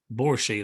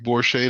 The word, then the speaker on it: Borishade: Ricardo Da Silva and borsche I hope I pronounced that right be blessed yes sir you did yes sir you did uh good afternoon everybody my name is borschade uh we also have